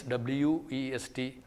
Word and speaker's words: west: t West these are two different sounds they have two different pronunciations but normally the Indian speakers do not make a distinction between them so they were sound in water West Etc that particular sound is a labio Wheeler sound it is considered